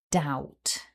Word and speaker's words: doubt: That's D, ow, T. So if we put all of the sounds back together, we have doubt. Repeat after me, doubt.